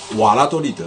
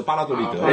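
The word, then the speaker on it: Valladolid: 瓦拉多利德，其实比较准确的读音是巴拉多利德，因为西班牙文这个 V 啊是读 B 的，V 读 V 的 B 对吧？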